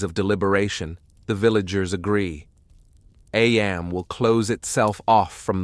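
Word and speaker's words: Eyam: If the people of Ayam, pronounced Eam, flee, they risk becoming vectors, carrying death into nearby villages, spreading the infection across Derbyshire and beyond.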